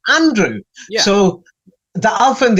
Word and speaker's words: Andrew: It seemed like saying, my name is Andrew, but, it's spelled with the letter A, but you pronounce it Indrew. And I'll say, no, it's not Indrew. It says the letter A, Andrew.